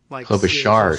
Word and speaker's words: Klobuchar: Is it Klobuchar? I've always said Klobuchar, but somebody else here we got Ride the Curve, listening live and saying Klobuchar. Klobuchar is the proper pronunciation.